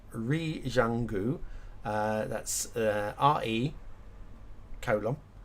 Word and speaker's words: Zhuanghe: one because it's a Chinese city, but it's Zhuanghe, I think it's pronounced. Zhuanghe. That's RE colon ZHUANGHE.